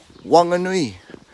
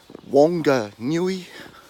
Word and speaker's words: Whanganui: can't pronounce the mg just think of the word sing or singing pronouncing the word singing